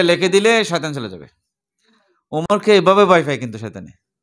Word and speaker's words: عمر: এইজন্য ছোট ছেলের বুকে যদি আপনি আইন, মিম, রে ওমর লিখে দেন, আপনার শয়তানের কোনো আসার থাকবে না। মিম, রা। ওমর উচ্চারণ আরবিতে এরকম।